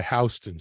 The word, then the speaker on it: Houston: York head down to Hon street it's spelled Houston and the locals call